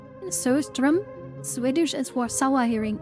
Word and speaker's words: surströmming: And it's not, Sistering, pronounced Söström.